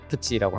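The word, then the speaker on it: プチ: 근데 일본은 이제 푸티라는 발음이 아니라 푸치라고 하는데 제이타크는 이제 좀 그 럭셔리한 거예요.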